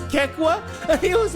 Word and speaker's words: KEKW: was trying to pronounce Kekwa? And he was like, what's kook? If anything, it's Kek-W. What the hell is kook? How do you look at K-E-K-W and say, yo, dude, kook?